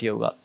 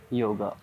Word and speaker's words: yoga: as we Say it a yoga actually it's not a yoga it's a yog but because of the pronunciation of the western and eastern is a little bit changed so it's a yoga